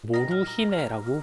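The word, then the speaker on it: モルヒネ: 자, 이렇게 양귀비를 든 아이들의 사진도 남아 있는데 당시 사람들은 몰핀을 이제 몰핀이라 발음하지는 않고 일본어로 모루히네라고 불렀어요.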